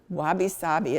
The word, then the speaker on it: wabi-sabi: Could you spell that Japanese concept for me? You said wasabi? Wabi-sabi, it's W-A-B-I-S-A-B-I.